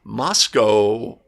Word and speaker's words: Moscow: It's like, you've got to learn to pronounce it properly. Moscow, Idaho.